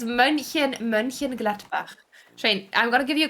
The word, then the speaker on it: Mönchengladbach: No, it's Mönchengladbach.